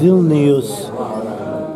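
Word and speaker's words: Vilnius: I still call it Vilna because that's the Russian Jewish pronunciation. Oh, does it have a different name now, too? Or? Well, they call it Vilneus, which is the word for it in Lithuania, in Lithuania.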